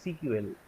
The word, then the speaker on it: SQL: MS SQL. Okay. Acha, SQL somebody may call it as CQL. Okay. Sequence. So Okay. some person pronounce it as CQL. So Okay, both pronunciation. pronunciation, they are, both are same.